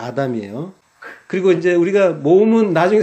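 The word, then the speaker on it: אָדָם: 우자처럼 생긴 카메츠가 붙으면 사람 아담이고, 파타흐, 이렇게 한일자처럼 가운데 있으면은 그거는 붉다라는, 발음은 다 똑같습니다. 아담이에요.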